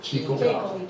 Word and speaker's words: Jekyll: But Jekyll writes, they pronounce her name another way. Jekyll.